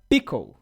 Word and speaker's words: Pkl: E se pronuncia Pickle. Não Pickle, não Pickles, Pickle.